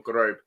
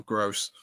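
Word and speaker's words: Groß: Josh, I'm going to have to correct you on the pronunciation of Pascal Gross. Oh, is it Gross, is it? I thought some people called him Grobe. No, it's because he's German, isn't it? Yeah. It's a different letter in German.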